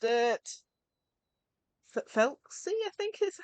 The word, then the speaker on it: Thelxie: water for oh guys I forgotten how they pronounced it felsy I think is how they said it FY